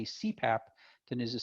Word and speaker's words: CPAP: new one we use cpap so c path is pronounced like c pap right it stands for